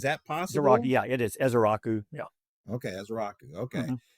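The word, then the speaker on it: Ezeiruaku: Yeah, it is Izaraku.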